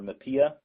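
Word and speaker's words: MHPAEA: Equity Act rules, or MAPIA. I've heard that pronounced in many different ways, but I'll say MAPIA.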